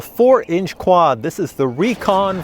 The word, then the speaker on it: Rekon: the recon 4 and i do prefer to pronounce this here recon as recon because you know like reconnaissance i want to go